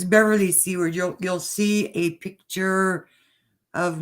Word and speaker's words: Seward: It's pronounced C word, like there would be an A in there, but it's not spelt that way.